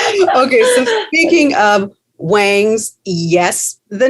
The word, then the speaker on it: Wangs: um hence the name wangs uh the way the South pronounces wings and it sounds like